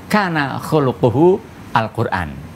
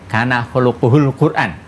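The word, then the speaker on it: كان خلقه القرآن: Aisyah radhiallahu anha menjawab Kana khulquhu Alqur'an kalau kita sambung bacanya Kana khulquhul Quran ya jadi akhlak Rasulullah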